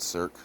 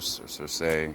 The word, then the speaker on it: Circe: I like Cirque. Because if you're going to use English to say her name, circle or to encircle, hawk, Cirque, I believe, is how you would pronounce it in English.